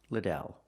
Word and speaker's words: Liddell: I answer, it's pronounced Liddell.